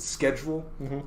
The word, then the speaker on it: schedule: Here in America, we pronounce it schedule.